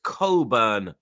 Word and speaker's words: Cockburn: pause, but we pronounce it Coburn.